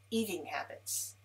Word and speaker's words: eating habits: So let's look at this, eating habits. Eating habits. This is a compound noun. Let's have the stress on the first sentence, the first word, eating habits, and then let's link from same eating habits, same eating habits.